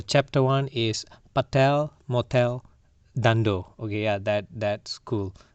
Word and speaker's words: Dhandho: one explanation one word Dhandho. I don't know am i pronouncing it right then it is pronounced as dhan - doe is a gujarati word